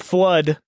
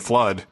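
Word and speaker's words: FLUDD: Also, he made Flood, which is spelled F-L-U-D-D.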